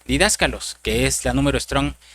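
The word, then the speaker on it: διδάσκαλος: Pues fíjese, hermano, que la palabra maestro se traduce de una palabra griega eh que se pronuncia didácalos, que es la número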